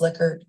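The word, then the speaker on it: Likert: primarily include multiple choice liquor and it is pronounced liquer um I was told that by someone who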